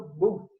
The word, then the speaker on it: both: É difícil mesmo pronunciar, tem o TH no final, né? Aquele chiadinho na língua, both, tá?